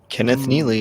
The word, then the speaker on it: Kenneth Neely: Is that what Am I pronouncing it right? Kenneth Neely. The artist. Kenneth Neely.